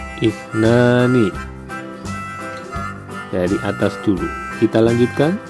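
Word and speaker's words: اثنان: Angka 2 dalam bahasa Arab, cara membacanya ifnani, ifnani.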